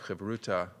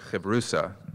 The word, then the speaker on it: Havruta: presenting the topic of Havruta or Havrusa, which is the traditional Ashkenazi way of pronouncing it, which is the way I learned how to pronounce it. So that's what I'm going to be using throughout this talk. But both ways are certainly legitimate.